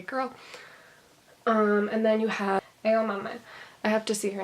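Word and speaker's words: Aomame: And then you have Edamame. I have to see her name to be able to pronounce it. It's like edamame, except instead of like a green bean, it means peas or something.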